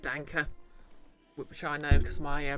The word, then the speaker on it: Danke: but you're pretty sure the E and dank isn't silent oh yeah it's pronounced like Danka which I know because